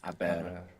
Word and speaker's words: haber: gone in Spanish it's a b e r and of course we have the silent h there in habera I bet is to